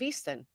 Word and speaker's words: Easttown: Easton. Well, they spell it Mayor of Easttown, but we pronounce it as Mayor of Easton.